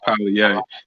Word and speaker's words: Polyair: Polyair, man. Am I saying that correctly? No, everybody tears it up. No, the correct pronunciation is Polyair. So just think poly and A. But E is silent, you know what I'm saying?